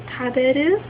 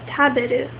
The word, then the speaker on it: taberu: So an example of that would be taberu. Taberu is spelled T-A-B-E-R-U and it ends in E-R-U.